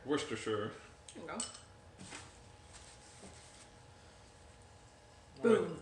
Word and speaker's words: Worcestershire: Worcestershire sauce. But it's more fun to like kind of say it in a stupid way. Worcestershire. Worcestershire.